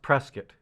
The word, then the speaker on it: Prescott: bit about prescott well first of all it's pronounced prescott rescue yeah prescott yeah like all these years